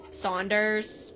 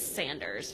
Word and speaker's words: Sanders: Sanders Saunders and I guess this is probably one of the last times we hear Saunders because it is Sanders for the remaining remainder of the series.